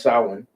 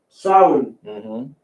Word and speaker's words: Samhain: It's pronounced Samhain. Samhain.